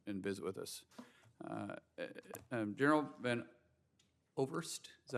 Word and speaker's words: Van Ovost: General Van Ovost, is that how you say it? Van Ovost. Okay, I'm sorry, we don't pronounce that often from Oklahoma.